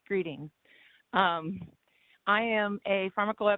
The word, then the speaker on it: Greatting: you bob starlin greeting clint yes it looks like grading but it's pronounced greeting um i am a